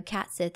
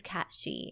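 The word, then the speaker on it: cat sìth: cat sheep she so this is pronounced she not Sith I know cat Sith is in Final Fantasy we all call it cat Sith but this is cat shei and Cat shees were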